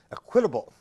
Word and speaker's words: Equitable: I found, just hanging around and wandering, the old Equitable, it's pronounced Equitable to you, but locally there in the Balmer dialect, Equitable, Assurance Society's collection of city directories going back to 1794.